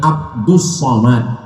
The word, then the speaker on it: Abdul Somad: Kasihlah dia nama Abdul Somad jadi sebenarnya namanya Abdus Somad tapi kemudian ditulis dengan Abdul Somad banyak jamaah